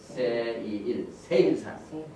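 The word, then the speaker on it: שֵׂעִיר: 그 다음에 여기 보니까 세일산 세일이란 말 세일 이렇게 발음합니다.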